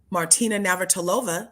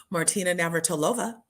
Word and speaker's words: Martina Navratilova: She went and learned opera so that her wife, Martina Navratilova, look, I said it right, you guys, Martina Navratilova, she had 2 cancers and she beat them both.